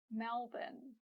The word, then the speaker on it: Melbourne: As for English, we noticed some interesting patterns with the spelling, like this sounds like bin, Melbourne, Gisborne, and this sounds like tin, Wellington, Hamilton, and so on.